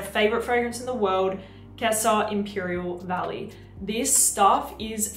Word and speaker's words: Gissah: Now, the way that you spell Kessa is like Gissah, G-I-S-S-A-H, but apparently it's pronounced Kessa.